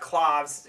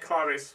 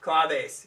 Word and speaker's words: claves: But the Ballad of Butterbeans, they use a lot of cloves. Cloves, is that how you say it? Claves. Claves, thank you.